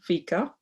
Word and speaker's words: fika: And just with that little tradition that's called fika, it's spelled F-I-K-A, pronounced F-E-E-K-A-H, fika, you get to know